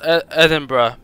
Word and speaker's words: Edinburgh: It's pronounced Birmingham, and it's also pronounced Edinburgh. It's not. I literally have to tell people, you don't pronounce it Edinburgh or Edinburgh. Call it egg and butter, because that's more accurate.